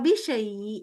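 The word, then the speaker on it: بشيء: Sya-nya kedengeran dulu. Bisyai. Bisyai'. Iya. Dan tipis. Kalau kita udah bisyai. Nah itu lidahnya tuh nggak pas lah. Jadi maksudnya ada sifat yang hilang dari shin.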